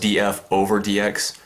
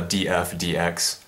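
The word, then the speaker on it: dF/dx: to X and uh it's not pronounced DF over DX so some people say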